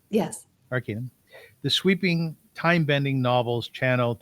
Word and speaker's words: Arcanum: Arcanum? Yes. Arcanum.